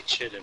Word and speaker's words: chitin: It's a pronunciation thing depending on where you're at. Thing. It's like here in Washington, just about everyone who's not a grammar Nazi literally calls it chittin.